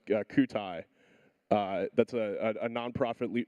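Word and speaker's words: Kyutai: a French uh AI lab I think it's pronounced Cai uh that's a a nonprofit research lab that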